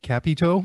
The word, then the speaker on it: Capito: I thought that Jos Capito, I guess that's what pronounces it Capito. I think I've been calling Capito, so there you go. Kind of good to hear it from the horse's mouth, so to speak.